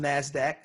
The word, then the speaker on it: Nasdaq: on the floor now the second one is pronounced Nasdaq and it stands for the National Association of